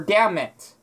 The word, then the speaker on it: damn it: But the N is silent. Like, the N wouldn't be there. You say, damn it, right? Or damn it. But for me, for the way I pronounce it, it'll be, damn it. Damn it. Damn it. Damn it. It's like the N is silent, and then there's, like, a really short M.